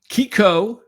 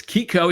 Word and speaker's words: Kiko: And you pronounce his name Kiko. Okay, so it's Kiko, even though it's Francisco, it's Kiko Maya Noah.